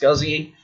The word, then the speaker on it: SCSI: So this is pronounced SCSI, and they go into